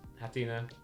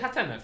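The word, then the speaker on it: Hatenna: I'd say Hatina still. No, it's Hatena, for sure, you're right. Hatena, yeah. Yeah, there's only just one E, two N's, yeah.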